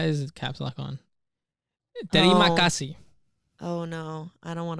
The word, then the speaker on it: Terima kasih: Terima kasih. Oh no, I don't want to pronounce Terima it.